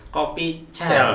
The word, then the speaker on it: Kopi Cel: Bukan bahasa kalau bahasa Inggris berarti coffee pakai C ya. Coffee cell gitu kan. Bacanya coffee cell. Tapi kalau ini kopi cel. Emang tulisannya cel. L-nya satu. L-nya satu. Iya, ya. satu. Kopi cel.